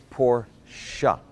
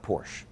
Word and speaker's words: Porsche: now while we're on the subject it's actually pronounced Porsche up say it after me poor shot it's not Porsche there you go this pronunciation lessons been brought